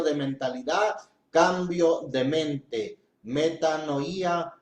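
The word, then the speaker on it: μετάνοια: Inclusive la palabra arrepentimiento, hemos dicho, viene del griego que es metanoía. Bueno, así se escribe. Sin embargo, la pronuncian como metanía y quiere decir, viene de dos raíces etimológicas.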